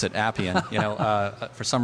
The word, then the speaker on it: Appian: how to pronounce it Appian you know uh for some reason some people have some trouble and say APN but it is Appian like apples uh or applications and